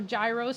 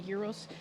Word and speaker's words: gyros: it's sort of like um greek euros or gyros some people pronounce it but it's actually euros it's similar to shawarma but it's absolutely uniquely